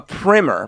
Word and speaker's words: primer: A primer, pronounced primer with 2 M's, but both. So it's funny. You can't know what I'm seeing, but a primer with 1 M, but in parentheses, pronounced primer with 2 M's, is a school book. Right. And a primer, rhyming with climber, is the first coat of something.